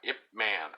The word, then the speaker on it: Ip Man: on Netflix you know if man IP doesn't everybody know but it's spelled IP and then space and then man just like man a man but I you know I